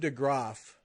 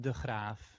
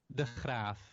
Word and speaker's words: DeGraaf: Our guest this week, DeGraaf of Modern Folk Embroidery. Hi. Hello. Okay, now I said it the American way. You got to say your last name the real way. So it's pronounced DeGraaf.